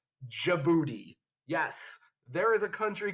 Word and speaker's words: Djibouti: didn't you're probably like wait it starts with the d how do you pronounce it well in english it's djibouti yes there is a